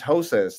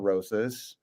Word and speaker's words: Rosas: You You didn't pronounce It's Hosas, not Rosas.